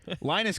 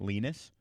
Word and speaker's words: Linus: by the way, is not, they were, the whole time, the announcer was pronouncing it Linus. It is Linus.